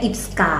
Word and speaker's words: IPSKA: Atau gimana Mbak bacanya ini yang benar? Kita biasanya bilangnya IPSKA.